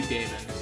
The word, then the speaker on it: daemon: I think you're supposed to pronounce that demon, but I'm gonna say daemon.